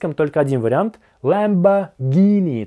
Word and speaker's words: Lamborghini: Похоже, в русском языке это можно сказать и так, и так, а в английском — только один вариант: Lamborghini. Там слышен звук "г" .